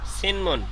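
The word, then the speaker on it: 신문: জুতা এখানে কি লেখা সিনমুন সিনমুনটা হচ্ছে কি পরে সি নিচে নিয়নের ন সিন আর এইযে মিয়ম মিমের নিচে উচে নিয়নের ন তাহলে সিনমুন আচ্ছা এইযে নিয়নের পরে মিয়ম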